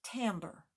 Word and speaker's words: timbre: It's spelled Timbre, but it's pronounced timbre.